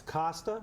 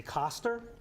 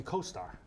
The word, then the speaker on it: Costar: It's Costar with a silent R, or you can say Costar. Just don't call me Costar.